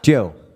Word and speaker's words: Dio: It's like The D is silent. Dio. Joe. Like Joe.